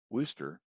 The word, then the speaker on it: Worcester: then all West to Worcester pronounced Worster saying goodbye to the